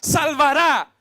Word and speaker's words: salvará: Acento en la A, salvará.